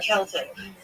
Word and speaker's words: Celtic: Is it Celtic or Celtic? Celtic is the right way to say it.